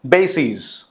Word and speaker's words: bases: जब कभी भी आई एस से ईएस जब प्लूरल बनता है तो फिर प्रोनाउंसिएशन में लॉन्गर साउंड होगा.